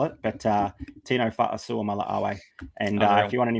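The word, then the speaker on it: Fa'asuamaleaui: Yeah, that is Tino Fa'asua Mala'awe. Don't ask me how to spell it. Definitely don't ask me how to spell it, but Tino Fa'asua Mala'awe.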